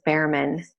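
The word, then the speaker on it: Bhaerman: with Steve I believe how you pronounce his name is Behrman it's B hae are a man and what I love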